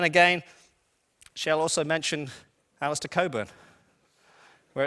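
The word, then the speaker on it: Cockburn: kur but then again she'll also mentioned Alistair Coburn where it's completely silent they also does occur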